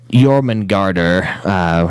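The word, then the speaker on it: Jörmungandr: This guy comes from Norse mythology, in which the Midgard Sormer, or Jormungandr, which is how they pronounce it in Norse, apparently, was the middle child of Loki and a giantess named Angrboda.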